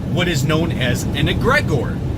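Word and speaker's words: egregore: That's how I pronounce it. You can call it egregor or whatever. I always called it egregor since I studied the occult 8-9 years ago. I've always called it that.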